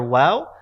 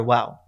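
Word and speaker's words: واو: is pronounced as we much more like the english w than it is the english v so make sure that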